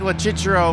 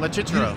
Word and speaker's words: Locicero: You just pronounce it just the way they do in Italy, Locicero. Yeah, that's no right. One pronounces it like that here. It's Locicero here, but that's good. But is it wrong? No, it's not wrong.